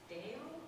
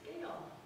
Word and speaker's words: Gail: "Dale? Gail?" "No, Mom, it's Gail."